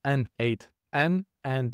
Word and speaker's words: n8n: You pronounce it as N8 and this is short for the nodemation.